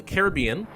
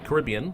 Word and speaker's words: Caribbean: that let's go to the Caribbean or the Caribbean whichever you prefer to pronounce it bam all the